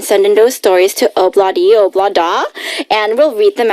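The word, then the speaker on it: Ob-La-Di, Ob-La-Da: How do you pronounce this again? Thursday. No. Monday, Tuesday, Wednesday, Thursday. Obladi oblada.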